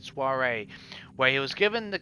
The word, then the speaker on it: soiree: The offer of the order came at a soiree, that's how you say it, soiree, where he was given the kind of a stability that the warring Frankian could not challenge.